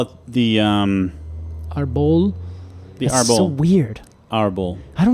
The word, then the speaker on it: Árbol: call it the um Arbol so weird horrible I don't know why but my brain hates that interesting well it's it potentially is because the accent is on the first syllable audible audible all right